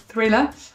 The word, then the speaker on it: thriller: Thriller, avec le petit TH avec la langue entre les dents, pas mal.